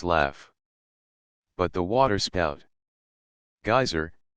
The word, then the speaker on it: geyser: high above the waters the geyser a word the icelanders pronounced gizer and which signifies Fury Rose